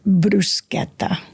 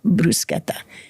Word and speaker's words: bruschetta: The food is a safe topic, except for the word bruschetta.